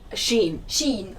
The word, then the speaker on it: Shein: How do you pronounce it? Shein? Shein, okay.